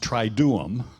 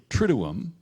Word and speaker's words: Triduum: But Triduum, it looks like it should be pronounced Triduum, but it's really Triduum. Remember Trinity, Triduum.